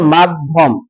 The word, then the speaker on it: মাধ্যম: মাঝে জ ফলা আছে এখানে ফলা যুক্ত বর্ণ হইলো ধ এই ধ দুইবার উচ্চারণ হবে মাধ্যম কি হবে বলেন মাধ্যম